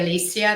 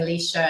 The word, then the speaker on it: Alicia: it's a frequency, um, they say Alicia. That's how we I say my name because it's okay. Different thing. But yeah, it's really funny. When I first came to the States, people were saying Alicia. And I didn't respond.